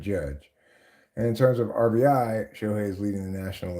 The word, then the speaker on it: RBI: Because it used to be that the correct way to say it is RBI, not RBIs, because it's runs batted in, right?